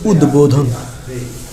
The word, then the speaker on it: উদ্বোধন: সঠিক উচ্চারণ হবে উদ্বোধন, 16 ডিসেম্বর 1979।